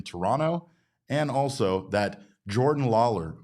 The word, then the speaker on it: Toronto: We're learning new things all the time, including that we don't pronounce the second T in Toronto and also that Jordan Lawler might be the Diamondback's answer to center field in the future.